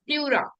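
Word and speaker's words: pleura: or number four plura plura it is pronounced as plura exchange of gases takes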